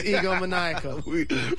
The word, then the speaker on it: egomaniacal: Egomaniac? Egomaniacal. You can tell they just said it into our ear because we said it at the same time. It's egomaniacal. We are the dumbest radio hosts.